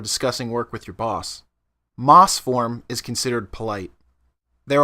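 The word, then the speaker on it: ます: with moss which is pronounced similar to the green stuff that grows on rocks and trees when you see a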